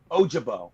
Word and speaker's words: Ojabo: guy a jo uh ojabo is how it's said and he's uh uh